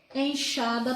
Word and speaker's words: enxada: A palavra enxada também tem um som de CH, mas se escreve com X, né?